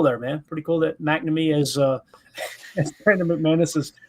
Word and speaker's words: McNamee: Ryan Wood tweeted out, Packers kicker Mark McNamee. I feel confident that that's how you say it, guys. McNamee.